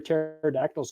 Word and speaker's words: pterodactyls: can you not hear pterodactyls go to the bathroom because the p is silent anyway yeah that I